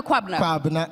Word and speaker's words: Kwabena Kwabena: Now, just so I get the right pronunciation right, it's Kwabena Kwabena. Kwabena Kwabena.